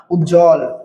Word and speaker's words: উজ্জ্বল: তার কারণে এই বফালার উচ্চারণ হবে না। বফালার উচ্চারণ কি হবে না। উজ্জ্বল রসু জ এ হস জ আর ল উজ্জ্বল।